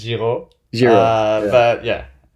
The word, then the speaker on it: Giraux: Is that The French pronunciation is Giraux.